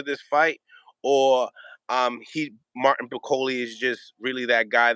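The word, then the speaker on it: Bakole: Do you know how to pronounce his last name? I think it's Martin Bacoli. Bacoli, that's right.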